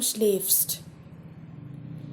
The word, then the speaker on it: schläfst: But for do it has become schläfst. A umlaut. And automatically the pronunciation also changes.